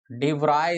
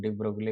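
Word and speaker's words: de Broglie: डी ब्राय इसको ऐसे पढ़ते हैं, बोला जाता है डी ब्राय, लेकिन देखने से वही लगता है डी ब्रोगली भी मुंह से निकल जाता है। तो डी ब्राय करेक्ट इसका प्रोनाउंसिएशन है भाई, लेकिन कभी डी ब्रोगली बोले तो वही समझना, आदत नहीं, बिहार बोर्ड से है ना।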